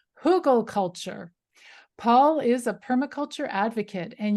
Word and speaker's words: Hugelkultur: Hugelkultur. I first heard it pronounced Hugelkultur, and that seems to be how I hear it the most.